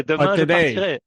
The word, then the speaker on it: demain je partirai: Partirai, yeah, demain je partirai.